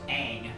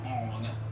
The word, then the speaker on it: Aang: In the TV shows, it's pronounced Aang, not Ong. Ah.